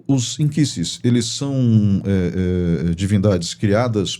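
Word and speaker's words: nkisi: E você falou dos inquisses, né? Eh, começa a palavra com N, né? N K I S I, né? Isso. Porque a pronúncia do N da linguagem queimbundo é in.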